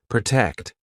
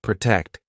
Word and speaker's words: protect: Marina, can you try to pronounce some words with the true T? Tell, taxes, attack, protect. Great. Tell, taxes, attack, protect.